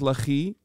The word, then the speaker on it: Lehi: Lahi, is that how you say it? It's pronounced Lahi.